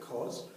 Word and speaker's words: cos: we write cos and this time we actually pronounce it cos so cos Theta is equal to adjacent over